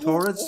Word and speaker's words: TAURIDS: Is it TAURIDS? Do you pronounce it? Yes, that's correct.